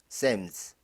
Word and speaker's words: Psalms: 자, 이 단어 P하고 L이 묵음이죠. Psalms, Book of Psalms, 시편입니다.